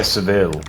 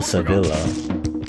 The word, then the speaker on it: Sevilla: Oh yeah, Seville. Yeah. Yeah, Seville or Sevilla. Yeah, like Sevilla.